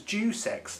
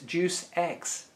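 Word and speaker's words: Deus Ex: Ju is how you I thought it was jux to start with you know obviously not the best way to pronounce it don't call it juice X that's terrible it's juice X yeah and um yeah Human Revolution there's a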